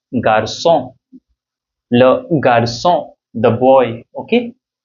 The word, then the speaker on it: garçon: So rather than saying this garçon means boy, if without this you know, if you remove this cedille from c, this become garcon, which is not correct actually. So you know, to make it the pronunciation very correct, we add this cedille here, and the sound becomes garçon, le garçon, the boy, okay, le garçon.